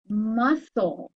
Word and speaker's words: muscle: are silent now tricky what's this word muscle in this case kind of similar but the c is silent ma full so that